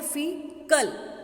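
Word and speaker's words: faecal: Right, the फीकल matter is, इसको लिखा फ ए पर इसको प्रोनाउंस करते हैं फीकल.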